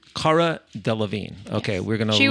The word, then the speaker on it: Cara Delevingne: Cara Delevingne. Cara Delevingne.